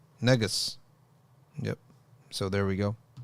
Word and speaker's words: negus: word from Noah it's from the ancient guess pronounced negus negus yep so there we